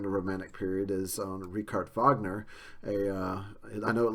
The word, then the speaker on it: Richard Wagner: last chapter in the Romantic Period is on rard Vagner a uh I know it looks like Richard Wagner but it's pronounced rard Vagner uh is a German opera composer and um